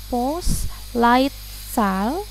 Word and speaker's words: Postleitzahl: Ya, ini cara bacanya Postleitzahl.